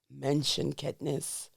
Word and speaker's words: Menschenkenntnis: Menschenkenntnis.